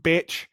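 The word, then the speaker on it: Bitche: They named the name a bitch. It is written with an E at the end, though. And It's it's French, but it doesn't matter that it's pronounced bitch.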